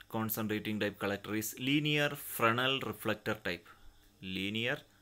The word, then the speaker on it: Fresnel: Now another category of line concentrating type collector is linear Fresnel reflector type. Linear Fresnel. It is pronounced as Fresnel, not Fresnel.